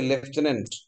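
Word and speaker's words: lieutenant: এলাই লাই মানে মিথ্যা, ইউ মানে তুমি, টেন মানে হচ্ছে 10, এন্ট মানে পিঁপড়া, মিথ্যা তুমি 10 পিঁপড়া, মানে লেফটেন্যান্ট, উচ্চারণটা হচ্ছে লেফটেন্যান্ট, এটা একটা সেনাবাহিনীর একটা র্যাঙ্ক।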